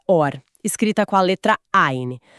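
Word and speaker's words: אור: A pronúncia é idêntica. Soa como or nas duas, mas or escrito com Aleph significa luz.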